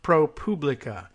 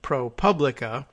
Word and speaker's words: ProPublica: the organization tweeting jokingly about how it's not pronounced propably but ProPublica and there was a big fight about it